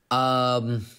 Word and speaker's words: Cvstos: And you're pronouncing it as if it's a U. Yeah, Cvstos.